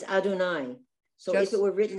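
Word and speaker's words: אֲדֹנָי: yod yeah it's confusing you're not supposed to pronounce the two units it's adonai so if it were written out good comment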